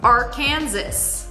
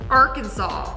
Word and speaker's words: Arkansas: So, it's three syllables. Are Kansas or is it Arkansas?